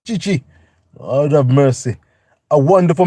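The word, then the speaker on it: Tite: Chi Lord have mercy TI pronounced Chi Lord have mercy a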